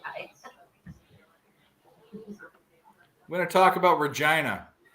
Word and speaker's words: Regina: hi gonna talk about Regina Regina I thought it was Regina my whole life it rhymes with fun come on I know Musa